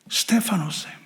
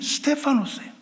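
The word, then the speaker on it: στέφανος: 그 면류관이라는 단어가 헬라어로 스테파노스입니다. 스테파노스예요. 그런데 공교롭게도 스데반의 헬라어 발음이 스테파노스예요.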